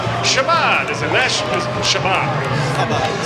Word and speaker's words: Chabad: Chabad. Say it for me. Chabad.